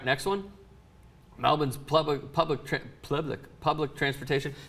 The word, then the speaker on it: Melbourne: you know it's pronounced Melbourne not Melbourne did you know that I'm pretty sure it's not the way you said it either no it's Melbourne Melbourne Melbourne yeah my parents do